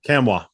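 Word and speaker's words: Nkamhoua: quality piece for them olivier how do you pronounce his last name kamwa now did you do the tennessee preview for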